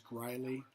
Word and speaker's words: Greule: Hi, my name is Greuley. Last name is spelled Greule.